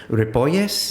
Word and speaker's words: Ripolles: Tell me if I'm going to pronounce this right. Is it Ripolles?